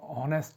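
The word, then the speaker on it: honest: यहाँ देखो ऑनेस्ट है, ऑनेस्ट वैसे एच से हॉ बनता है, परंतु यहाँ पे प्रोनाउंसिएशन हॉ नहीं बल्कि ऑनेस्ट है, ऑनेस्ट है, ऑनेस्ट, ऑनेस्ट है।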